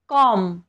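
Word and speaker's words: comb: च्या नंतर आलेला आहे कॉम्ब याला आपण कॉम्ब म्हणतो कॉम्ब कॉम्ब नाही म्हणत इथे सुद्धा एम च्या नंतर बी आलेला आहे तसंच आहे बॉम्ब इथे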